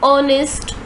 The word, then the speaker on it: honest: The consonant H at the beginning of our and honest is silent. That is, those words begin with a vowel sound.